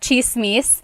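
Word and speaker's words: tsismis: on Instagram talking about chismiss. One thing in the gall spelled with a t ss. The ts combination makes that chch sound.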